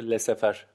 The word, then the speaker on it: laissez-faire: Bahsetmeye çalıştığı şey, söylemeye çalıştığı şey laissez-faire diye okunuyor burada.